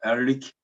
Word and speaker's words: Ehrlich: Doug Ehrlich, I asked his last name how to pronounce. He told me this way. Doug Ehrlich and Raymond Liepins.